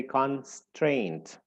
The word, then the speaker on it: constraint: and then strained and the one that is stressed is strained and uh and uh to show that we should blaz the stress here uh they write like a little something you know uh super scraped o over or uh above the part that should be or needs to be stressed like a small uh you know simple or something you know so we know now that we should say constraint all right and it's